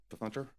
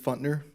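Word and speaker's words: Pfuntner: And I've been saying it wrong the entire time. I've been putting the P in there and I apologize.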